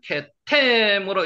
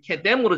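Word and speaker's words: קדם: 케템으로 여기 적어놨는데 케뎀으로 지금 발음 나죠.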